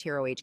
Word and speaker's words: troche: The lozenge or troche, pronounced TROH dosage form, incorporates the drug